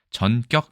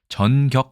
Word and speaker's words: 전격: 일단은 발음에 주의해야 됩니다 국어사전에는 전격 이 아니라 정격 그 로 되어 있습니다 앞에 젖는 장 음이 고여서 정격 이렇게 해야 되지만 제가 알기로는 이걸 정격